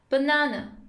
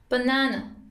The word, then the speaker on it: banana: In American English, it's pronounced as banana, banana. And in British English, it's pronounced as banana, banana.